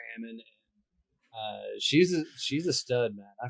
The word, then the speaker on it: Ammon: So we came up with the name Amex to remember how to call her Ammon.